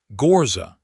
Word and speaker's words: Ghorza: "Ghorza," he said, and got the name right, fully right, the low roll of the first syllable and the gentle fall of the second, and she heard it and her eyes went bright.